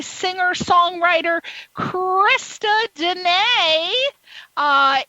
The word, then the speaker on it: Deana: B singer songwriter Christa Denay uh it's pronounced when you look at her name it's Krista and it sounds like Diana d-e-a-n-a but it's pronounced Danae and I'm gonna ask